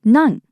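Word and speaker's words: なん: Usually the word for what is nani, but in this case it's been contracted to none because it's just easier to say it that way in this sentence.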